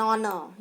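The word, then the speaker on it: honour: एन आर, एन ऑनर, यहाँ देखिए एच जो है वो प्रोनाउंस नहीं होता है, साइलेंट रहता है, हम इसको हॉनर नहीं बोलते हैं, वी से एन ऑनर।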